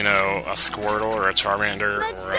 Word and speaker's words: Charmander: I'm pretty sure it's actually Charmander, not Charmander. Like, what is this, a shampoo commercial?